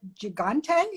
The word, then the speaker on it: gigante: and the second was is it gigante is that how you say it yes yes yes so i went looking